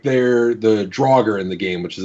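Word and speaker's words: draugr: we don't go back so like they're the draugur in the game which is a D&D reference they initially misspoke and called it the Dierker and so that's canonically how it's pronounced in the game is der ger and that's kind of how a lot of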